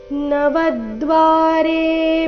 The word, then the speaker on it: ನವದ್ವಾರೇ: ನಾಸಿಕ ರೀತಿ ಸುಖ ವಶಿ ನವದ್ವಾರೆ ಪುರೇ ದೇಹಿ ನವದ್ವಾರೆ ಶಬ್ದದಲ್ಲಿ ವ ಮೇಲೆ ಆಘಾತ ಬರಬೇಕು ನವದ್ವಾರೇ ಪುರೇ ದೇಹಿ ನೈವ